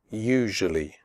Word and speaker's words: usually: picture adventure future nature usually the first you in usually is pronounced like the word you the S is pronounced like in television usually tough the word tough